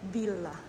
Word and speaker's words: Villa: Villa kasi sa atin here instead they call it Villa You have to pronounce double the double l oh goodness parang I'm